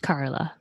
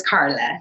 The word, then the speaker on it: Karlai: And it is pronounced Carla, right? It is Carla.